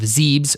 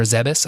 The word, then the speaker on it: Zebes: their home planet of zebes or zebus i don't know how you pronounce that z-e-b-e-s zebes or zebus v-e-b-e-s yeah i think it would be zeebs like thebes yeah maybe you're right